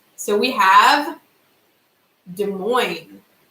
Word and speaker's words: Des Moines: you got it right okay boy there is Des Moines there we are man I think it's French